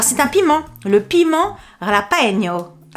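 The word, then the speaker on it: jalapeño: Alors c'est un piment, le piment Ralapeño. Je sais pas du tout si ça se dit comme ça. Est-ce qu'il n'y a pas un prononciation? Prononciation. Jalapeno. Voilà, c'est ça.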